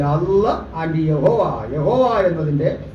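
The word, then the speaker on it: Yahweh: Bible ദൈവത്തിന്റെ പേര് എങ്ങനെയാ എങ്ങനെയാ പറയേണ്ടത് എന്ന് അറിയണ്ട യാഹുവേ ഓക്കേ യാഹുവേ യഹോവ എന്ന് പറഞ്ഞാലും കുഴപ്പമില്ല പക്ഷേ പൂർണമായ ശരി എങ്ങനെ യാഹുവേ യഹോവ എന്ന് പറഞ്ഞാൽ തെറ്റാത്ത പൂർണമായ ശരിയാകാത്തത് എങ്ങനെയാണെന്ന് വെച്ചാൽ എബ്രായ ഭാഷയിൽ വൗവ്വൽസ് ഇല്ല കൃത്രിമമായി പിൽക്കാലത്ത് ഉച്ചാരണത്തിന് വേണ്ടി ഈ അയ്യോക്ക് തത്തുല്യമായ ചിഹ്നങ്ങൾ പിന്നെ ഉണ്ടാക്കി ആ ചിഹ്നം വെച്ച് യാഹുവേ ഇടയ്ക്ക് ഇട്ടപ്പോൾ യഹോവയായി ശരിക്കും എങ്ങനെ പറയണം ഇംഗ്ലീഷ്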